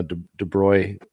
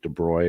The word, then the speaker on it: de Broglie: the the you know de broy uh de broglie um yeah it's actually pronounced I think de bruy or whatever you know